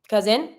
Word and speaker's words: cousin: and then the cousin cousin quite easy the cousin here pronunciation every time you have a s that is between two vowels z sound so here because the